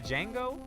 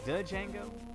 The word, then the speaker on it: Django: Oh, the D is silent. It's just Django. I always like pronouncing the D though. Django. Django.